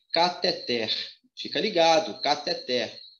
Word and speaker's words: cateter: aí ó tá bom a pronúncia aqui não é cateter e sim kather fica ligado até o